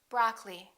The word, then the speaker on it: broccoli: preference temperature temperature broccoli don't say broccoli say broccoli diamond diamond laboratory don't